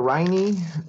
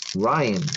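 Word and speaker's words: Rhyne: Is it Ryan or Riney? Rhina? How do you say her name? Anybody know how to say her name? Howard, I'm pretty sure I'm right on that one. Loud one. Ryan. Okay. See, I would have never thought it was Ryan.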